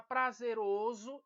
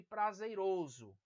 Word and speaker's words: prazeroso: aí nós temos agora prazeroso e prazeiroso prazeroso e prazeroso veja que vem da palavra prazer algo que causa prazer